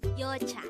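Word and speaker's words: 여자: Korean the Korean term for a woman is yocha again it's your chat this is pronounced the two syllable word the first syllable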